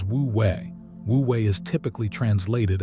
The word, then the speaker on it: wu wei: Pronounced roughly as woo way, woo way is typically translated as non-action or non-doing, and almost everyone misunderstands it immediately.